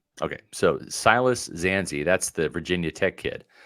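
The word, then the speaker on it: Dzansi: to the conclusion there is it zancy yeah see I I am looking at it as zancy just because B is silent okay so Silas zanzi that's the Virginia Tech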